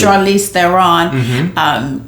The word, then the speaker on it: Charlize Theron: Charlize Theron.